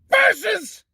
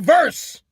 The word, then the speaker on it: versus: Versus! In professional wrestling, it's supposed to be Andre the Giant versus Chief Jay Strongbow. Not Andre the Giant verse.